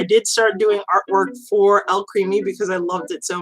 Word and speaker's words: Alcremie: It's basically like alchemy, but Alcremie.